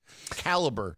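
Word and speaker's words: Calibre: all sorts of stuff caliber is how you pronounce that software I didn't know that I thought it was Cali Cali no it's I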